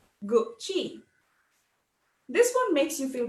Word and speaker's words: Gucci: your head right now it's not gucci it's not goosey it's not gurky it's gucci gucci this one makes you